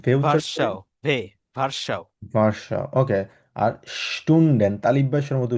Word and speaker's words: Stunden: আর স্টুন্ডেন তালিব্বাসের মতো উচ্চারণ করি আমরা কখনো।